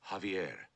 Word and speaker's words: Javier: Javier, not Javier. The the J is silent. You pronounce it like a H.